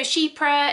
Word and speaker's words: chypre: us and uk so shepra is spelt c-h-y-p-r-e and but it's pronounced like sheep you know sheep like